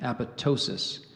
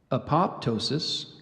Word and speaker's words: apoptosis: the formation of tumors so I gave you that that pronunciation apoptosis there are three alternate pronunciations apoptosis apoptosis apoptosis you repeat the word